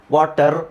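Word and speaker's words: water: ಆದಾಗ R silent ಮಾಡ್ತಾರೆ ವಾಟರ್ ಅಂತ ಹೇಳೋದಿಲ್ಲ ಆರ್ ಸೈಲೆಂಟ್ ಆಗ್ಬಿಡುತ್ತೆ ಅಲ್ಲಿ ಸೈಲೆಂಟ್ ಮಾಡಬೇಕು ಅಂತಿಲ್ಲ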